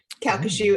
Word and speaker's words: Calcasieu: Calcasieu is how you say it.